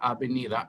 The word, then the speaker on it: avenida: So yo vivo en la avenida. Avenida means avenue. Avenue. And remember the V? Avenida. Yes, good. Pronounced like a B.